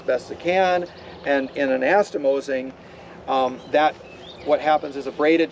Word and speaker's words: anastomosing: That's the one, but that's not how you say it. It's anastomosing.